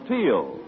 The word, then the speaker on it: Teal: And remember, for laughs, it's R-I-L-E-Y, Riley, and for lovely smiles, it's T-E-E-L, Teal.